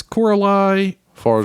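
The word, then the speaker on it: Coralie Fargeat: This is Coralie Farja. Farja. Yeah. Farja. I want to say Fargo. It's fine. I'm sorry I mispronounced your name.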